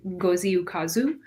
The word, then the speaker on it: Ngozi Ukazu: So, there is a comics artist named Ngozi Ukazu. Uh first name is spelled n g o z i and Ukazu When you Google, you'll find her.